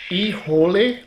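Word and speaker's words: Híjole: That's Ijole. That's how you say it. I think these must be Mexican because it's quite a lot of Spanish on there and it actually tells you in English how to pronounce it.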